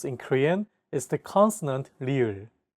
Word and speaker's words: 리을: This consonant is often romanized as an R or an L, but there isn't an equivalent sound in English. 라마, This sound is actually somewhere between an L and an R sound. When pronouncing this sound, your tongue should strike the gum ridge behind your upper teeth in a quick, rapid motion.